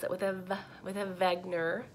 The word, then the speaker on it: Wegener: with him with a Vagner with a V sound and he was a